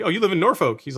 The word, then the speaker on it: Norfolk: oh you live in Norfolk he's like it's a Norfolk I'm like it's spelled with a folk on the end he says but yeah it's not pronounced that way it's Norfolk all right